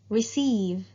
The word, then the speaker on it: receive: have the word receive receive receive another word ending in v and as we said before if a word ends in v or u you need to add a silent e in the end and there you go